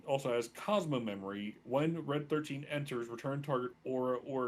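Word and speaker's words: Red XIII: I don't think I'm going to pronounce this correctly. It's Red 13 Proud Warrior.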